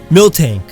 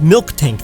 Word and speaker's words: Miltank: Miltank. Not Milk Tank, that's ridiculous. Don't add K's where they don't belong!